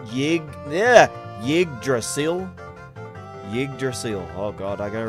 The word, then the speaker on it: Yggdrasil: The pronunciation, oh, Yggdrasil. Yggdrasil.